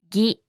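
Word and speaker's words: ぎ: Ki with a dakten is pronounced as gi, ki, gi, ki, gi.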